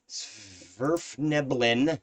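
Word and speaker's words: svirfneblin: uh and had started to head towards the sverfneblin there we go said it right uh city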